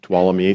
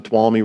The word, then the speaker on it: Tuolumne: their river teach them how to pronounce it Tuolumne Twila you teach them that